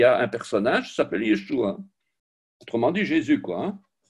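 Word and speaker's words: ישוע: Alors, en sachant que les points et les petits traits représentent pour la plupart des voyelles, lisons de droite à gauche yé.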